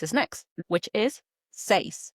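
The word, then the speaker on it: seis: 6 is next, which is say s e i s. That's right. And it's pronounced just like you would say Simon says in English.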